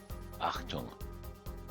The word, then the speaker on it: Achtung: Achtung. So it is an H sound.